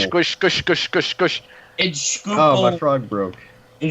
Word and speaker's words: Schuylkill: Schuylkill. Schuylkill. Skookle. Google. Okay, in Schuylkill. Squish, squish, squish, squish, squish, squish, squish. Schuylkill, Oh, my frog broke.